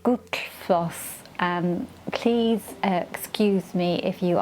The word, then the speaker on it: Gullfoss: Now it's spelt, I'll put it on the screen now, but you don't pronounce it as you think you're going to pronounce it in an English way. You pronounce it Gullfoss.